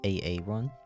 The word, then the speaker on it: Aaron: to tell you guys my name is actually pronounced aaron um please do not mispronounce it or else i